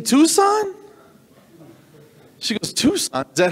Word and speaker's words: Tucson: going to love it it's a hyundai tuxen like oxen really you mean tucson she goes tucson is